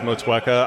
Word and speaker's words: Motueka: Like I love hearing all the different pronunciations of what I've heard, like Matoinka. How would you say it? Motueka. Yeah, I understand it as Motueka. I think the Kiwis do say it a little differently with that accent, but I'm